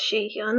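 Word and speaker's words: Sihyeon: face of the group she Sean let me just check if that's how you pronounce her name her name is pronounced she Kelin that was right okay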